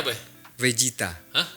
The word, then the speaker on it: Vegeta: Bezita itu bacanya apa ya? Vegeta. Hah? Sebenarnya Vegeta tapi kan ee pronunciation orang Jepang buat V dan F itu agak susah. Iya. Jadi V jadi B gini gini nama aslinya Vegeta cuma dibacanya Vegeta.